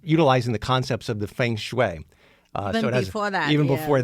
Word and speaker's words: feng shui: you know I can't pronounce it I can spell it but it's feng shui right yes well that that involves it goes